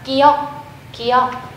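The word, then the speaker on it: 기역: write it as g or k However the pronounciation will always be: The first consonant ㄱ is called gi-yeok and written as follows A line from left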